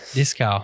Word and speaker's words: Dieskau: And today we are joined with Sabrina Dieskau. Sabrina, hello. Hello. Did I pronounce it right? It was perfect. Dieskau. I try my best German accent.